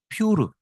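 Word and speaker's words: פור: 그래서 죽이려고 하는데 해필 제비를 뽑았는데 그러니까 부림절이라는 이제 절기를 소개를 할 수밖에 없는데 퓨르 뭐 좀 순화시켜서 우리식으로 발음하면 부르 그래서 부림절 이렇게 이름을 붙였는데요.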